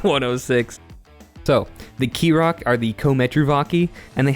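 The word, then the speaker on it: Keerakh: Place your bets on how it's pronounced. I'm thinking Krock. I think it's got to be Krock. Krock. K E E R A K8. It is Krock.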